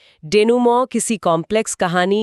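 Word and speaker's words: denouement: डेनूमो, उच्चारण ध्यान देने वाला है।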